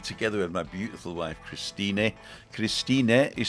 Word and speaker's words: Christine: t i n e but in German they actually pronounce the E so that's why we say Christin not Christina Christine Christin